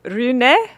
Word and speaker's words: Rune: So getting pain free, that's what we're talking about here today with Rune. Did I say it right? Rune. I'm, Yeah. I'm Rune.